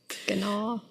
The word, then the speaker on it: gnaw: They can gnaw. No, that's not how you pronounce that. Gnar. I'm not a gnar. I'm not going to. They cannot. I'm not a gnome. They can always gnaw on what's left.